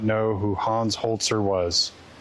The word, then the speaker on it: Holzer: Let's talk about Hans Holtzer. Honer. Holer. So I It's read as hoser, but I guess it's pronounced holtzer. Holtzer, like with a t.